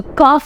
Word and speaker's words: cough: I have a cough so cough is the correct pronunciation and not cuff next we come to